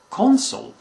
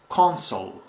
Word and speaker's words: consul: usually a diplomat, and is pronounced differently than the first two. It's consul.